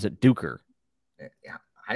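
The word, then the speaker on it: Duiker: and he also pronounces uh the author he pronounces duker uh like diker and it's and i've heard erickson pronounce it duker yeah i say duecker because he's a you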